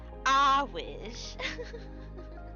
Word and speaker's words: Earwig: Um, Pronounced Awish. Of course. She even says it at the bottom.